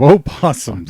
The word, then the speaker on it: opossums: road you know I I think the O is silent in that Terry no not in